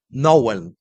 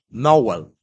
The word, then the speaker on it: Nowen: Pero la verdad guardada en la memoria de los pueblos originarios es que se puede escribir Nowen, pero se pronuncia nowel uniendo la a y la o. Nowell, un sonido que resuena